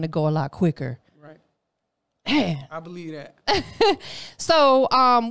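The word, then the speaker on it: Aych: a dude out there he goes by H and it's spelled a-y-c-h that's who I met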